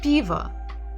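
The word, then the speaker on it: пиво: one is beaver diva if we would listen to the stress Viva Viva Viva the first letter is Tre the first syllable is stressed b b so even if we're here at the end sound ah we know that it's probably o because it's not stressed so it will be Piva the final letter is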